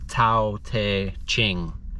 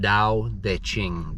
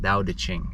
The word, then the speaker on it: Tao Te Ching: If you read it, it looks like it should be called the Tao Te Ching, but it's pronounced Tao Te Ching, Tao Te Ching, okay?